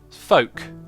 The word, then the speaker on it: folk: a lot of sense the L in folk is silent folk oh folk yeah some